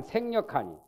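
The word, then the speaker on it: 省力: 명백하고 간이 해서 불방 생력하니 여기는 반성이라는 성자를 발음을 생그래요. 생. 여기서는 성이 아니요. 글자가 한자지만은 때에 따라서는 발음이 달라요. 여기서 생력이라고 발음해야 돼요.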